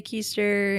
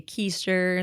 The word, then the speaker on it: Kuster: I I will say my name's keister and then I do this one like derriere joke and I was like you're sitting down on your and they're they're supposed to say keister the audience callback and